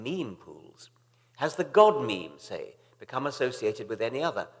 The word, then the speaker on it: memes: the French word ma'am it should be pronounced to rhyme with cream just as genes are selected for their mutual compatibility so in principle might memes be the large literature